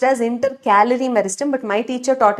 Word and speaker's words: intercalary: Actually this intercalary meristem is correctly pronounced as intercalorie meristem but my teacher taught it as intercalary and that is how I will teach it.